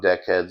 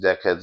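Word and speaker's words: Dekhedz: It's called Deck Heads Official. Um spelled a little different than like the normal way you would think. It's spelled D E K H E D Z.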